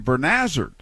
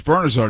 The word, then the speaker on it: Bernazard: your head sometimes and norm kept calling him bernazzard and his name was bernazard he's playing for the